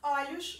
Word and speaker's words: olho: na pronúncia dessas palavras olho no singular e pronuncio com o fechado olhos no plural e pronuncio com o aberto nesse caso quando eu